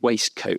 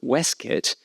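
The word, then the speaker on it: waistcoat: You know, waste coat is simply a spelling pronunciation. It's been triggered by mimicking the spelling in the pronunciation. What's driving Wild's determination to preserve Weskit is a series of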